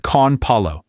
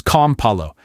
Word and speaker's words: con palo: The same thing happens with con palo. It becomes com palo.